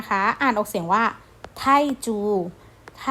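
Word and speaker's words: 泰铢: ที่ 6 นะ คะ อ่าน ออก เสียง ว่า ไทจู ไท่ จู นะ คะ ที่ แปล ว่า เงิน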